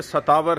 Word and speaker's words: शतावरी: तो ये शतावर है, शतावरी इसको हिंदी में इसका उच्चारण करते हैं, और ये देखें यहाँ पर अंकित है, और ये एक मूल है, मूल जड़ है।